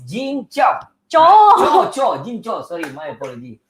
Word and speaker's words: Kyaw: How do you pronounce it? Cho. Cho. Okay, I always Yes. call it cow.